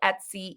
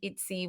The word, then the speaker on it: Etsy: extremely affordable on that cute little place called Etsy itsy whatever you want to call it however you pronounce it Kimberly and I are both super